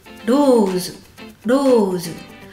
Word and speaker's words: Rose: Rose rose et puis toujours le e de rose qui ne se prononce pas.